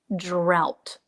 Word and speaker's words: drought: But in this case, this is pronounced drought.